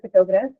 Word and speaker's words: photograph: So the same is the case with photograph. The stress in this case is also on the first syllable, which is so, right?